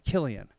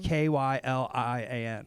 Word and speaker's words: Kylian: So it's spelled like Kylian, but it's Killian. Oh, So awesome. Kylian.